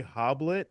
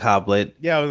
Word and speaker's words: Hoblit: Fallen uh from 1988 directed by Gregory hoblet I believe is how you pronounce the name uh I think 98